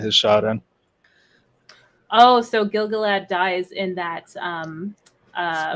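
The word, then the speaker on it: Gil-galad: Um, if I'm pronouncing that that's supposed to be Gilgalad.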